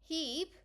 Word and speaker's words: Hebe: of the forge with the cool prosthetic legs, Hebe, sometimes pronounced Hebe, I like Hebe better though, the goddess of eternal youth, Aletheia, goddess of childbirth.